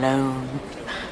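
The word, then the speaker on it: Lone: with it tom tom loan rhymes with cone phone bone well she stopped joking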